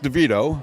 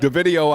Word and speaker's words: DeVitto: are you doing today it's pronounced devido but deido I've heard many many times um actually my name